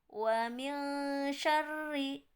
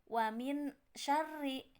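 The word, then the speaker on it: مِن شَرِّ: Nun nya jadi enggak contoh wamil sorry jadi bukan Wamin syarri karena Sin besar tersebut bagian dari huruf ikhfa maka dibacanya samar ataupun jadi Ang bukan Nun wamil sorry oke untuk selanjutnya poin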